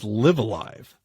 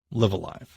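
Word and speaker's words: Live A Live: So, next game that I played during my travels on my Switch was LiveAlive. We have agreed that that is how it's said. LiveAlive.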